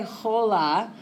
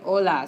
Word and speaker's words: hola: And we don't pronounce, H in Spanish. ¿Cómo se dice hi in Spanish? Hola. So we don't say hola, we say hola.